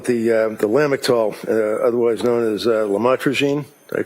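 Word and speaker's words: lamotrigine: about the u the lamel otherwise known as lamatrogene. Did I pronounce that right? Lamotrograene.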